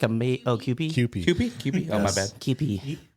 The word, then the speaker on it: Kewpie: Put some Q pie. Yeah, Q pies. Q pie mayo on the other. Kewpie. I'm not like a mayo. Oh, Kewpie. Kewpie. Kewpie?